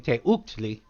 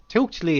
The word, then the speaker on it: teuctli: was mispronouncing it because at first I was saying Teuctli, and Teuctli is actually, Teuk is one syllable as opposed to two.